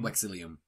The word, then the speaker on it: Vexilium: It's Latin. It's Vexilium. Vexilium? Vexilium. But there's a V there. Yeah, V's are pronounced as W's.